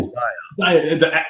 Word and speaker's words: Xia: salivating watching them play Zaya. It's spelled XIA. Yep, Zaya Legends of a Drift System.